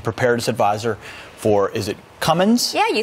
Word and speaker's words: Cummins: Here with that important information, Cheryl Nelson, meteorologist and weather and preparedness advisor for, is it Cummins?